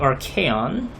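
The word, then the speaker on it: Archaon: can finally start so it is actually RK on that is how you pronounce his name alright so the pawn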